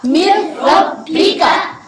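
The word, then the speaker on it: مِنْ رَبِّكَ: Meme के आगे ये नून है ना जी। इसको नहीं पढ़ेंगे। मीम का जो हिज्जे करेंगे वो रा के साथ। मीम रा जेर मिर, रा बा जबर रब, मिर रब, बा जेर बी, काफ जबर का, मिर रब्बी का। यहाँ पे नून को ना हिज्जे के अंदर पढ़ना है और ना रवा में पढ़ना है।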